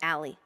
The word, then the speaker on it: Ali: people to call me Ali I say it the easy Gringo way as in Alley Cat Alleyway back alley that's what everyone at